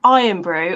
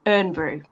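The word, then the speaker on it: Irn-Bru: can actually tell me is it iron Brew or is it earn Brew yeah because my granddad was like it's earn Brew it's you say it how it's spelled and I'm like no it's not it's iron brew and he just and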